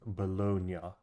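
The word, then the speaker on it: Bologna: Italian comrades was drawn the correct pronunciation is bolog okay thank you okay back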